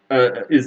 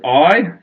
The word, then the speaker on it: Ai: On the top of the mountains with Beit El is the city of Ai, spelled A-I. A lot of people call it Ai, but it's actually pronounced I.